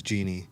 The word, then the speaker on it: Jeanne: but my mom spells it Jeanne, and it's Jeannie.